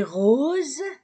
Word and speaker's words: rose: même adjectif le livre est rose Z Z s entre de voyeles Z la robe est rose